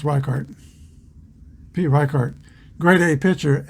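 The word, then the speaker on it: Richert: The new pitcher is Pete Rickert. No, it might be, I think it's pronounced Reichart.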